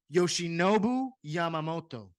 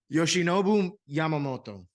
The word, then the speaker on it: Yoshinobu Yamamoto: Yoshinobu Yamamoto. Like that little accent at the end. Yoshinobu Yamamoto.